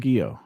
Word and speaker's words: Carrasquillo: gotta drop those L's, bro. Get a little. You see what I'm saying? Carrasquillo.